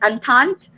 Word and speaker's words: entente: triple and or entente how do you pronounce it i would pronounce it as antant okay we have russia